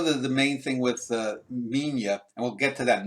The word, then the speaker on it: Minilla: Yeah, I mean, it's when you spell it out, it looks like Manila, but when you pronounce it, it's Minya.